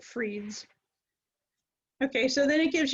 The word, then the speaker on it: Fried: r i e d it kind of looks like fried to me like fried foods but I believe they pronounce it Freeds okay so then it